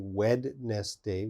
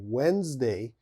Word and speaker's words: Wednesday: Okay, so Wednesday has a D in the spelling. There's a D, but of course we don't say Wednesday. We say Wednesday.